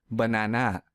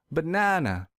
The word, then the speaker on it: banana: Let's say I pronounce this word as banana. This is incorrect because I don't stress the second syllable. So to fix this, I will stress the second syllable real hard.